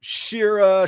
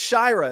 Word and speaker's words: Shyra: People have pronounced my name Shira Shira. I'm like, it's Shyra. It's not that hard. It's just a long eye. That's all you got to remember.